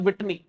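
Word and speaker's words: Whitney: वेटिनले, mount वेटिनले और विटनी, विटनी pronunciation में guys it's विटनी, mount विटनी दिख रहा है यहाँ पर।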